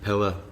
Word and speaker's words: Peder: Big up the Old Irish and Pillar Black. It's like Peter Black, but they pronounce it Pillar.